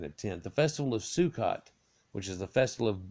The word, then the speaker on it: Sukkot: Feast of Tabernacles at the Ashkenazi pronunciation is Sukkos also known as chains